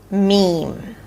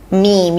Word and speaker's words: meme: So, if it wasn't clear from the discussion here that we had, the way to pronounce this word is meme. meme. You start with an M sound. A high E.